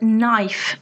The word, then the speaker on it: knife: common feature of English think of the word knife for example the K is silent again knee is the